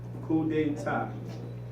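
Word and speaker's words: coup d'état: Say coup Who de they ta. ta Coup d'etat. who they ta. Sounds like French.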